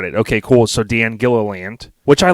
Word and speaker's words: Gilliland: practiced in my head what's the right pronunciation of your last name it's kill a land Gila land yeah exactly got it okay cool so Dan Gilliland which I like that